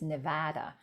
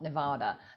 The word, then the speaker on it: Nevada: I have been told many times that it's Nevada, not Nevada. Nevadans get really... You're right. I have said it wrong Nevada. before, and Lori Winfelt has corrected me as well. Yeah, Nevadans do that.